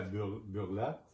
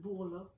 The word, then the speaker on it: Bourla: Ils disent à Burlat, Je pense que c'est Bourla.